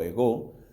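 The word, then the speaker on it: ἐγώ: Tiene el acento en la O, ego.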